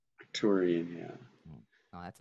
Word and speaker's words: Arcturian: That's how you say it, Octurian. Arcturian.